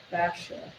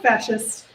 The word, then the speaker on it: fascia: So next month we're going to talk about diaphragms, and then we're going to go into fascia, not fascist. So the fascia is, or fascia, I always say it wrong.